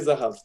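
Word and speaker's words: זהב: Donc, Zahab, qui va se prononcer Zahav plus tard.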